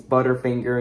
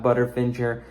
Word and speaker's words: Butterfinger: Also, minor critique, your text-to-speech voice is pronouncing it wrong. It's Butterfinger, not Butterfinger. I think the best solution might be to, like, split the word Butterfinger into 2 separate words, butter and finger. If you probably do that, then maybe it'll say it correctly, but yeah, just saying, bro.